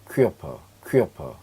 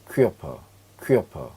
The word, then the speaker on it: Körper: Körper 얘는 몸이란 뜻이에요. 몸. 자, 다시 한번 읽어보겠습니다. Möbel 얘는요 Körper 이렇게 읽습니다.